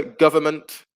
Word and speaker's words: government: For number 2, N is the silent letter. Government. Yeah, we don't say government. It'll be very difficult. In English, we don't tend to pronounce N and M together. So the N disappears. It becomes government.